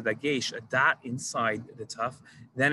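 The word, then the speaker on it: ת: a dot inside the tough then it's pronounced tough and if it doesn't the ashkenazi tradition is to pronounce it as a s sound like a suf and that's a different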